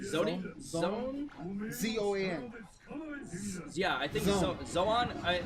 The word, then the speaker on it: Zoan: Yeah, I think Zoan. In Japanese, you would pronounce it Zoan, but we'd probably just call it Zone.